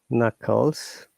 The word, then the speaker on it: knuckles: have K and together, we don't pronounce K at all, which means what words like say knowledge, you can see, or no, known, knuckles, K is silent.